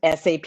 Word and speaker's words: SAP: So I always say the S in SAP doesn't stand for sexy. It is pronounced SAP, not SAP.